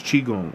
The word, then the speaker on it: qigong: It's chiong or some some cultures spell it q i g o n g. It just depends.